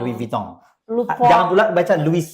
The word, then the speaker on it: Louis Vuitton: Karena dia Belakangnya ada N. N itu biasa I dengan N dicampur jadi gitu. Louis Vuitton. Louis Vuitton.